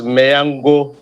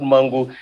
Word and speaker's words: Mangu: a local government called mangu so your pronunciation is mayango not mango so that i will